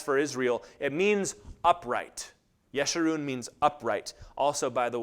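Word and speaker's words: Jeshurun: also by the way it's always a soft J in Hebrew they have no ja sound it's yeshirun or yerushalim or yaakov but just so you know that's why I pronounce it that way and what follows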